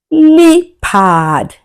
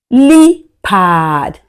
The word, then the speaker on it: leopard: leopard leopard Good job. You can see it has e and a. E is a long vowel sound and you can hear e, but a goes silent.